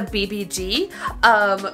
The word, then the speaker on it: VIVIZ: I could say the BBG because that is the Korean pronunciation, which we might have to stick for because I can't pronounce anything.